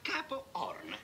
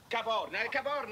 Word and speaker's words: Capo Horn: Si chiama Capo Horn. Capo Horn. Ma perché lo dici così? Perché la... Ma no, l'H non si pronuncia, lascia stare, su, forza.